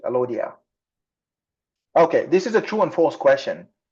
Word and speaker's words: Alodia: We call Alawa in Arabic. Alawa, Alodia in Greek. That's how it's being pronounced, Alodia.